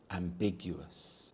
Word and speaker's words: ambiguous: of becoming an engineer ambiguous ambiguous the stress is on the second syllable big ambiguous this is when something